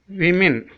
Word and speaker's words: women: Example word is women, women, W O M E N, women.